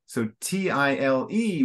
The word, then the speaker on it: tile: So just to help in the pronunciation, so T-I-L-E would be tile. So open eye.